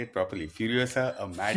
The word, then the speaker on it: Furiosa: it's the backstory of furiosa say it properly furiosa a mad F Saga furiosa Mad Max Saga